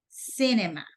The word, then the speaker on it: cinema: The stressed syllable, it's C, cinema.